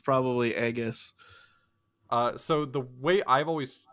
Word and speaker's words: Aegis: always used yeah so it's like a long e sound for AE like Caesar whether or not that's